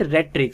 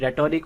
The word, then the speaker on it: rhetoric: Some people also pronounce it rhetoric. So both the pronunciations are correct, whether you pronounce it rhetoric or pronounce it rhetoric, both are correct, just pronounce it.